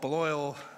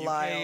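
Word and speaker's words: Balliol: We call it Beloil. It's different Others in the Belial. UK.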